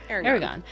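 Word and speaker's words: Eragon: had what was that the how do you pronounce this book? Is it Aragon or Aragon? I can never remember. Aragon.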